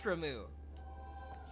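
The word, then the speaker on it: Ramuh: electricity Aeon, and that's Ramu. Is Ramu how you say his name? It's R-A-M-U-H. And the only reason why I think that's how it's pronounced is because of Final Fantasy XIV.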